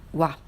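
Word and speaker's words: は: qu'il faut faire attention la particule loi ça s'écrit en qui la ghana a mais on le prononce comme oit mais attention le thème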